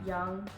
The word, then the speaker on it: Yung: Well, hi, spelled like the air you breathe and you breathe in, so it's literally. Young, Y-U-N-G, and that's also my Instagram, Young.